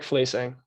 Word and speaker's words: Fleising: in case i said it wrong placing eric fleesing okay i don't think i said it right